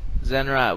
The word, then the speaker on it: Zenrot: We've got Zenrot here. That's actually how to say the name, right? That is how you say the name. Zenrot.